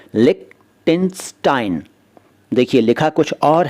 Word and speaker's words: Liechtenstein: इसका उच्चारण भी अजीब सा है। इसका उच्चारण है लिक्टेनस्टाइन। देखिए लिखा कुछ और है लेकिन यह है लिक्टेनस्टाइन, और ये एक देश है, जी हाँ।